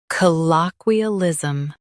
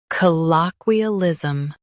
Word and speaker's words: colloquialism: Colloquialism. Now read the syllables shown on the screen naturally. C low que uh liz um colloquialism stress low and keep ism light.